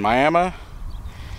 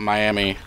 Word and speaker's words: Miami: on rout 66 just between uh Aton and miam yes it's it's uh pronounced miam not Miami but uh this is part of the original